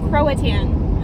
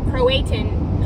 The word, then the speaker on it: Croatan: It's also Croatan Highway, not Croatan Highway or Croatian Highway. Croatan. No, it's Croatan.